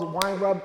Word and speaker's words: Weinraub: I'm here with my man Charles Weinraub.